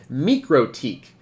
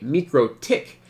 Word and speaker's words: MikroTik: and if you were actually Latvian you probably pronounce it me critique okay so that is the correct the official